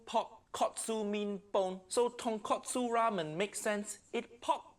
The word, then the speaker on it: tonkotsu: making tonkatsu ramen tongkatsu nephew nick i think you mean tonkotsu in japanese ton min pog kotsu mean bone so tonkotsu ramen makes sense it